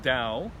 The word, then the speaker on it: Dao: Actually, according to Wade Giles, that is pronounced Dao.